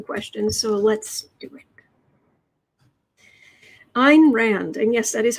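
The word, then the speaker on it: Ayn: after a Scandinavian writer so it is Ein as in mine like mine minus the M anyway Ein Rand what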